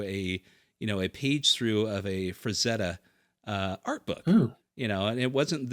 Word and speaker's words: Frazetta: Just because it's one of those things where I'd been calling it Franzetta my whole life, and it's Frazetta, and just all of that stuff, but yeah, it's got the most views.